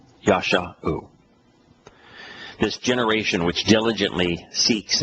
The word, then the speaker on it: Yeshua: And save here is Yeshua. I suspect I should pronounce that more correctly. It's Yasha. Yasha.